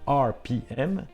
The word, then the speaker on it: Arpiem: C'est l'acronyme en prononciation anglaise des lettres RPM, RPM.